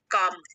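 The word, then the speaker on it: calm: revise कर लेते हैं काम यहां पे प्रोनंसिएशन भी लिखा है काम मींस शांत एल साइलेंट है इसमें एडमायब्रांड साधु यहां पर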